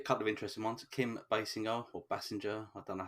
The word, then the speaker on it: Basinger: It is Basinger. And funnily enough, the only way I know that is because I've just seen the Simpsons episode where her and Alec Baldwin are in it, and Homer pronounces it wrong.